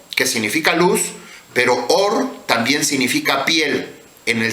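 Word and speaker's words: עור: que en hebreo es or y or también significa luz hay dos eh formas de pronunciarlo se pronuncia igual pero significa diferente or que significa luz pero or también significa piel en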